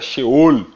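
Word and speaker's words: שאול: Na verdade a pronúncia era Sheol, por causa da ruptura, da expressão, da linguística hebraica, Sheol, ou Sheol, que é conhecido.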